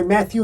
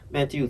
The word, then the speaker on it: Mathieu: right oh just to let you know my matthew is spelled yes yes h-i-e-u yes correct it's french